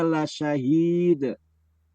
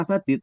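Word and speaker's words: لَشَهِيدٌ: innahu ala dalalikaadid Dalika la syahid diulang. Wa innahu ala wa innahu ala wa dalalika wa innahu ala dalalikaadid. Bukan bukan sadid tapi la syahid.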